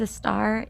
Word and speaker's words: Estar: the word also writes for other people lyricist estar did i pronounce that correctly yes thank you yes my name's a star and i am a composer and a vocalist